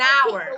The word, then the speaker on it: hour: Sometimes some letters, Mary, are silent letters. It means we write, but we don't pronounce. Here, as you can see, H is not pronounced. So an hour, it sounds ah.